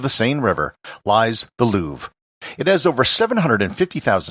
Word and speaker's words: Louvre: rest of this episode i'll be using the most standard english pronunciation of the museum louvre the reason for this is that this podcast is in english and luvra isn't how it's commonly